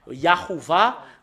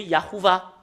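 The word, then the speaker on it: יהוה: bah nous allons revenir sur l'image yahoua bah ça ça devenu yahouva et les gens l'ont écrit les personnes qui ne sont non ne sont pas conscients l'ont écrit en yahouva c'est un nom d'un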